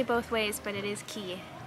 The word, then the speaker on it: Cay: ways but it is key it is pronounced key disney pronounces a key